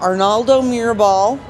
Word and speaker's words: Arnaldo Mirabal: So we've got Arnaldo Mirabal, right?